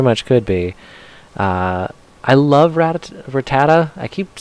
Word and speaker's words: Rattata: I love Rattata.